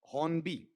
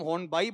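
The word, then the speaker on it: Hornby: ज्यादा अच्छा रहता है इसका उच्चारण क्योंकि प्रॉपर नाउन है। अगर तुम हॉर्न बाय बोलो तो गलत तो नहीं है। इसलिए नहीं कि प्रॉपर नाउन में उच्चारण अपने हिसाब से निकाला जा सकता है।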